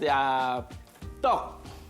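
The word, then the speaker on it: 떡: Yes, it called tteok.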